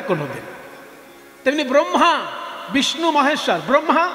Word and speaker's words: ব্রহ্মা: তেমনি ব্রহ্মা বিষ্ণু মহেশ্বর, ব্রহ্মা রফলা বলে, ব্রহ্মা বিষ্ণু মহেশ্বর, ব্রহ্মা প্রদীপ।